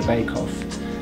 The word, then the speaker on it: Baibekov: And for that reason, outside the Square Gallery, it is very, very happy, humble, very privileged to have Rinat Baibekov, or Baibekov, as it's properly pronounced, as one of the collection of artists that we have outside the Square Gallery.